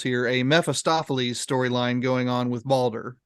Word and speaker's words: Mephistopheles: The other thing is that, you have this, and listeners, I'll be sure you hear all the syllables here, a Mephistopheles storyline going on with Balder, right?